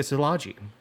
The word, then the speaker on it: Szilagyi: And I was like, dude, it's like salami, but instead of an M, there's a J sound.